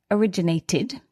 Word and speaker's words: originated: The last sound is a t, a dental consonant. T. It's pronounced it originated.